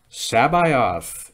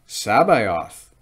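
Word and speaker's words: C'baoth: Sabaoth is how Timothy Zahn wants us to pronounce Sabaoth. So we'll say it like Sabaoth. Back in the 90s, if you read the abridged Star Wars Expanded Universe novels, they pronounced his name like Sabaoth.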